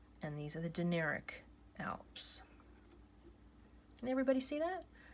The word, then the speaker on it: Dinaric: It's called the Dinaric Alps, and that's spelled D-I-N-A-R-I-C. That's a C. And these are the Dinaric Alps.